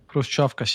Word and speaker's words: Khrushchevkas: But then you go to Saltivka and you are inside a humanitarian catastrophe, inside huge buildings, Khrushchevkas, you can probably pronounce that better. Khrushchevkas, yes.